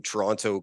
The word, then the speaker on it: Toronto: coming to you from Toronto, Canada. I always, while traveling internationally, try to put emphasis on the last T, Toronto, because often Canadians, we just roll it and say Toronto really quickly, and people think I'm